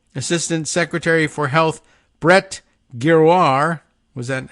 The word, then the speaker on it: Giroir: Pronounced Giroir.